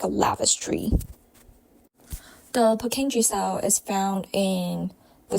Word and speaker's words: Purkinje: can associate it with it is the pure King of the little brain which is the cerebellum it pronounced as peni the cell structure for